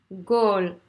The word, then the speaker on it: goal: Goal. Donc, O-E. C'est, encore une fois, la nuance, c'est vraiment... C'est ça qui fait vraiment toute la différence dans la prononciation. Goal. O, O-E. Le E redescend.